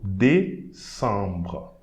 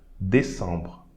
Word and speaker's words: décembre: We are not going to pronounce the E. So décembre, décembre.